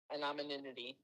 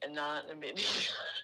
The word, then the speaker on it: anonymity: I can never I can never pronounce it right. Anominity. Aninity. An anominity. Anonymity.